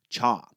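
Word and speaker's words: 茶: The people of these regions spoke the Cantonese dialect, which pronounces the word for tea as cha.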